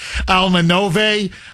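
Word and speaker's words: Alma Nove: Uh he and Alma Almanovi I think is how you pronounce it. Nove wicked close. Alman Nove.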